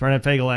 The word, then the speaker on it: Fogel: a number of times B fagel actually uh is his name he prefers that because that's actually how it's spelled uh the red light ticket